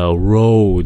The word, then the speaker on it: road: Từ này là "road" (đường), đừng nói là "rot" (mục nát) nhé các bạn.